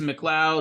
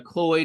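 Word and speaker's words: McLeod: particular tool here uh it's a McLoud or McLoy there's a couple different ways you can pronounce it uh what's interesting about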